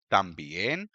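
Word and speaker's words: también: तूद रेो अमोर कातार second line देखिए यह वो वर्ड्स हैं जो इस रूल को डिफाई करते हैं। कफ तंबियन कंपास अब यह वर्ड बॉल में एंड होते हैं। जैसे कि ए में या फिर एन या एस में एंड होते हैं। तो एज पर रूल इनका जो स्ट्रेस है वह पेनल्टीमेट से लेवल पर होना चाहिए। लेकिन नहीं जब कोई नेटिव स्पीकर इन वर्ड्स को बोलेगा तो वह ऐसे ही बोलेगा।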